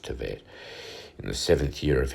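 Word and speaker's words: Tevet: So Esther was taken unto King Ahasuerus into the house royal in the 10th month, which is the month Tivet, it's all pronounced Tivet, in the 7th year of his reign.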